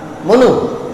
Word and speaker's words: Manu: মনু, মনু থেকে ম্যান, MANU কি হয় উচ্চারণটা? মনু।